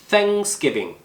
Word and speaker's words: Thanksgiving: 이번엔 번데기 Thanksgiving 이 TH 발음은 이빨 사이에 혀를 넣고 바람을 내보내주는 거예요. 이러면 번데기 발음 나고 방금과 똑같은 상황에서 목소리를 좀 물려주세요.